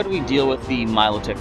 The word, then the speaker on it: Milotic: I call it Milotic. I've heard people call it Milotic, depending on which syllable you accent, I suppose.